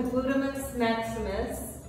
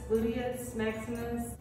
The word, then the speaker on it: gluteus maximus: they definitely complement the glutamate's maximus i i think that's how you say it glutamus maximus gluteus maximus so it's nicely fitted